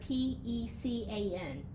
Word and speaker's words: pecan: Someone also asked on your sayings if you could say the word P-E-C-A-N.